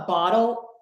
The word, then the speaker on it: bottle: A bottle of water. Is a schwa, a bottle. Or I'm going to use a D, which is that flap T there.